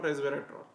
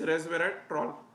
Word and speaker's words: resveratrol: grapes grapes consist of resveratrol. Okay. The skins particularly the skins of grapes contain resveratrol. Okay. So the pronunciation is resveratrol. Resveratrol. This is the pronunciation.